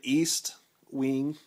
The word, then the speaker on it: Estwing: other countries that watch but this is an east wing and i'll show you how to spell it if you are an ebayer and uh